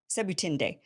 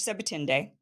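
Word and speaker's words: Sebutinde: I I practiced how to say this SE seend so it's judge seend and judge Barack who is from Israel seend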